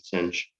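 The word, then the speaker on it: sinh: defines our hyperbolic sine which we usually pronounce caution cinch because we like sounding ridiculous and um well we have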